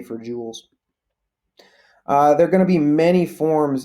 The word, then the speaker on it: joules: measured in joules and I know that's a weird looking word but joules is how you say it NJ is the